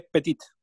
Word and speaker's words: petite: Pero cuando hablo de la niña, ahora ya suena la T. Elle est petite, agregó la E y ahora la T se pronuncia.